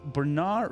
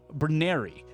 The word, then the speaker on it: Bernari: And you see the face of a man, and this man is a Bernard, or let me double check how to say this, is a Bernari.